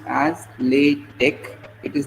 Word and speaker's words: LaTeX: to the real part so latch is generally pronounced as lat Tech it is not lat Tech t Okay so most of the people pronounce pronounce it as latex but it is not late Tex it is